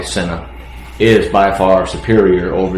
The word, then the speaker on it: Sena: They're brand new and uh I can tell you Sena Senna, I want to pronounce it right. It's probably Senna is by far superior over the edge.